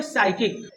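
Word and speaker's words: psychic: एक गलत तरीका है अगला वर्ड है साइकिक इस वर्ड की स्पेलिंग है पी एस वाई सी एच आई सी साइकिक इस वर्ड का मतलब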